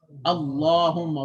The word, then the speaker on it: Allahumma: So if the lam is in the word Allah or Allahumma and there is a fatha or dhamma before it, then the lam is going to be pronounced heavy.